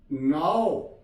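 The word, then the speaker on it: know: के एन ओ डब्ल्यू, नाउ। इसे हमने नाउ नहीं पढ़ना, नाउ, नाउ, नाउ।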